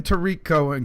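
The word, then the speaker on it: Tarik Cohen: saying how it's gonna work hours and then Tariq Cohen comes in and is that how you pronounce his name yes all right and now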